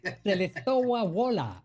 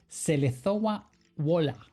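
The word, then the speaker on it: Żelazowa Wola: I know how to pronounce this name. But here we Correct. go. Correct. Selezowa Wola. That's where he was born. Where? In, you make me say it again. Selezowa Wola, Poland.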